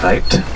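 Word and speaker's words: wyd: Rather, it's a mispronunciation of the Afrikaans word weit with a V.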